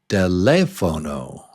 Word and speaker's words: teléfono: Yeah, and when you say this word in Spanish, it's teléfono, right? Is that right? Teléfono. But in English, it's different. Telephone.